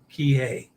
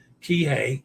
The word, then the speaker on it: Kihei: Kihei, like lay. Kihei.